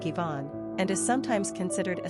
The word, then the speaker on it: Iván: In the Spanish and Portuguese languages, the name is written with an accent, i.e., "Iván" which is pronounced more like "Iván," and is sometimes considered a substitute for the name Juan.